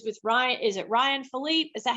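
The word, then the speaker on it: Phillippe: knew she was with Ryan is it Ryan Philipe is that how you say it yeah yeah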